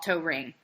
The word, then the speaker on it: Toering: to say it so I never even saw tow ring okay that's so encour that really is just